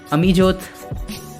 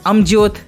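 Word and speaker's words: Amjyot: to the next person amijot amyot singh sorry for the mispronunciation he was also born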